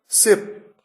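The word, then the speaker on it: ship: शिप, शिप, देखिए कितना फर्क है। जहाज को शिप कहते हैं, अगर आपने सिप कह दिया तो अगला व्यक्ति हो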